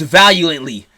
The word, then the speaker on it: valiant: And it's like, he won't even, like, lose valiantly most of the time.